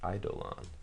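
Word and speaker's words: Eidolon: eons okay or idolon people complain about how I was pronouncing that before idolon any dread board sure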